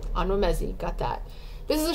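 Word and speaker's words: Onwuemezi: by vanessa i also looked up how to pronounce this onwa messi all right ano messi got that this is a short story collection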